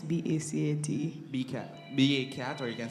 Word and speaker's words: BACAT: How you pronounce B-A-C-A-T?